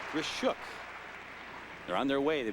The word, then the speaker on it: Grishuk: It is not Grichuk but Gishuk.